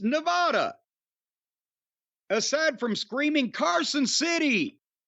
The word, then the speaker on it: Nevada: Nevada Mr cornet please it is not Nevada is it neev a wwd ah it's Nevada NE V A A D ah I mean not spelling but pronunciation I think that's wrong too well he says a is in McMahon not a is in Khan